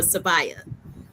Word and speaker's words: Savaya: Her brain and heart overflow with audio and video of her 2-month granddaughter, Savaya Jelani Riggins. Did I pronounce that correctly, Savaya or Savaya?